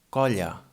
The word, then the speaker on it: colla: In this case, the two L's sound like the Y in English, for example, in yes or York. It's almost the same sound. For example, we have the word colla.